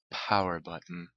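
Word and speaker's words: PWRBTTN: We're talking about Power Button. But not spelled Power Button, it's spelled P-W-R-B-T-T-N.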